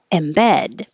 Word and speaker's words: embed: joe the hamburger thing embed embed this is the verb stress is on the second syllable if you use embedded